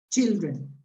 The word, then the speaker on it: children: Be careful with the pronunciation of ch and sh. Children. Imagine that you have a T before. Yes? Yeah. Okay. You have an imaginary T. So imagine that you have this. Children.